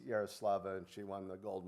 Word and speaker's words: Yaroslava: did I know she was, I'm terrible at pronouncing Ukrainian names, but I know it's Yaroslava, and she won the gold medal in the high jump in the Paris Olympics.